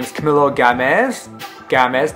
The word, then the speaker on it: Gamez: Gamez, not Gomez, and not Gamez. It's spelled just how you see it in the title.